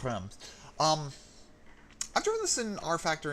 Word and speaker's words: Reims: I'm going to go to Google Translate and find out how it thinks the French say this track name, because it does seem to be a contentious thing about how you say it. Translate... R-E... Reims. Reims? Reims. That doesn't sound... I've always heard it as Reims.